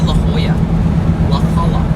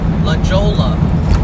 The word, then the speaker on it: La Jolla: We're headed to La Hoya. La Jola as it looks like Jesus says at Casey Kesm.